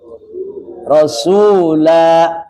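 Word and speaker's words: الرسولا: He iya oke ya itu kata rasula di akhir ayat ayat 60 en cara bacanya begitu rasula gitu ya dengan mad di situ ya Yauma tuqallabu wujuhuhum finari yaquuluna ya laitanaallaha waar rasula berapa harakat dua dua ya kan rasula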